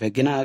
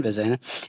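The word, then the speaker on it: vagina: Ovary है, फिर oviduct है, fallopian tube, uterus, cervix, वेजाइना, या कुछ लोग वेगिना कहते हैं, प्रोनाउंसिएशन वेजाइना।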